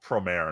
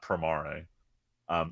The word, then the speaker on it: premiere: officially allowed to say I've been pronouncing this wrong it's called premiere not prime RA so premieres coming out